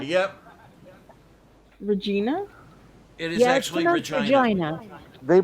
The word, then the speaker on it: Regina: snickering Regina Regina yep Regina it is actually Regina they pronounce it Regina huh okay wouldn't think it